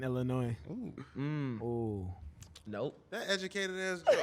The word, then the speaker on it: Illinois: from chicago out west illinois uh roaches wow someone who looks like a roach um oh look at they started oh we're only people from our west pronounce the s in illinois nope that educator is